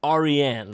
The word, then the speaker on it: Ariane: name got him and it is a persian name it's pronounced ariane version you see the